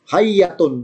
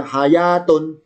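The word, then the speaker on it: حية: Musa itu ketika dilempar, hayyatun tas'a. Hayyatun, ini yaknya bacanya bersyiddah bertasid alias double. Hayyatun. Kalau bacanya panjang hayatun, hayatun artinya kehidupan. Kalau hayyatun artinya seekor ular, ya.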